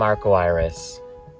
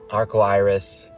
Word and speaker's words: Arco Iris: I am Arco Iris. Arco Iris is an American way to pronounce the Portuguese way to say rainbow.